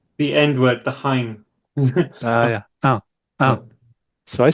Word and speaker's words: hein: It's Well, there's no H sound, and I almost heard it with Mike's.